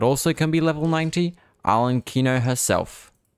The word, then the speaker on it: Arlecchino: Arlecchino herself. No, arlecchino. There we go. I'm pronouncing it right.